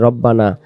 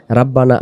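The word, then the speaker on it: رَبَّنَا: আমরা অনেকে বলি রব্বানা রাব্বানা আতিনা। রাব্বানা না এটা হবে রব্বানা আতিনা আলিফ।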